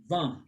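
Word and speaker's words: vingt: Van. So I-N-E. letter G and T are silent.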